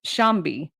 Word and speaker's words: Tshombe: So this guy, you pronounce his name Shambi, but it's spelled Tshombe.